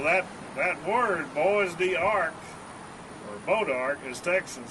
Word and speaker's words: bois d'arc: That's the hardest wood in the United States, bodark. It's spelled boise, B-O-I-S-E, D-A-R-C. That's a French word.